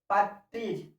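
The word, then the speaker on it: partridge: silent हो जाता है डी के बाद डी साइलेंट हो जाता है पैट्रीज ठीक है फिर यहां टी के बाद आर आया तो ये हुआ पेट्रीज मतलब तीतर होता है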